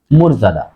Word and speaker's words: মর্যাদা: এখানে দেখো এই যে এটা কি উচ্চারণ হবে মর্যাদা উচ্চারণ হবে মোর ময় ওকার হবে কেন হবে এই যে রেপ রেপের আগের বর্ণের সাথে যদি অযুক্ত থাকে তাহলে সেই বর্ণের সাথে ওকার হয় উচ্চারণ হবে মোর মোর জা মুরজাদা তাহলে সঠিক উচ্চারণ কি হবে কখনো মর্যাদা হবে না মর্যাদা আরেকটা জিনিস দেখেন